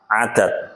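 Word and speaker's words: عدد: Dalam bahasa Arab itu ada dua. Jumlah yang pertama itu adalah rangkaian dari beberapa kalimat menjadi sebuah jumlah. Kemudian jumlah itu sendiri ada jumlatun. Nah, jumlah itu ya kumpulan. Yang selanjutnya adalah lafaz adad.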